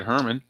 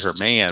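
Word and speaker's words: Herrmann: Ham brings up Ed Herman I used to call him Ed Herman her man but I think it's actually pronounced Ed Herman even though there's an extra N on the end 33's a blank 62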